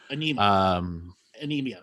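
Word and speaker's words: Ænima: Anemia, yeah.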